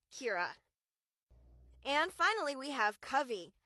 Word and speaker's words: Kira: I heard a lot of people call her Kyra, but just like Kirsten, it's Kira.